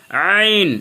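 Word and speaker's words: ع: জবর যবর জ আইন এই যে হলকের মধ্যখান থেকে প্রেশার দিতে হবে আইন আইন আইন জবর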